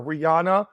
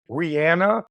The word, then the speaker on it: Rihanna: Do you know we all call her Rihanna, but her name is actually Rihanna, like rhymes with banana?